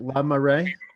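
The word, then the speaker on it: La Marée: megan from now how do you say it lamar ray yes i say right yes and so celebrate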